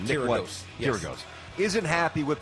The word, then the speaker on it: Kyrgios: I always say his name wrong. Nick Kyrgios.